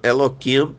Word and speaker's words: Elohim: Repito que o nosso povo não chama nem Elohim, muitas vezes chama Eloquim para não pronunciar, né?